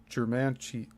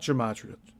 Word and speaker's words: Germantia: But it is apparent that Ed Leedskalnin was a practitioner of the ancient sciences of Germantia, not gematria, Germantia, and geomancy.